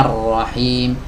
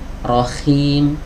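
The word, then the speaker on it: رحيم: ya tidak bersih suaranya Rohim Rohim Rohim harusnya bersih Rohim Rohim Rohim Ya jangan Rohim Rohim Ya silakan nanti teman-teman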